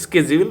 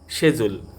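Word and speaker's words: schedule: আমরা বলি এটা শিডিউল, কিন্তু এটা হবে স্কেজিউল বা শেজুল মানে সময়সূচি।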